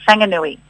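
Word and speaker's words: Whanganui: So, um, obviously Wang and I' I've had to learn pretty quickly that anything starting with a wh is a fang. Fanganui.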